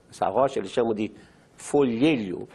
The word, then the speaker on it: folhelho: Eles chamam esse gás que existe em rocha porosa, essa rocha eles chamam de folhelho. Eu sei que é difícil pronunciar, folhelho, mas é a palavra correta.